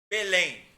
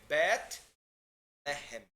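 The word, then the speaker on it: בית לחם: Belém. Não é Belém, é Bet-Lehem. Bet-Lehem. Certo? Né?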